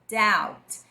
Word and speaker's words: doubt: O B a gente não vai pronunciar, tá? E o O junto com o U vai ter um sonzinho um pouco diferente do que você imaginaria. Então a palavra é doubt.